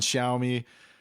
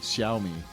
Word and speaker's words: Xiaomi: ox or cow and xiaomi that x is like an sy people call it all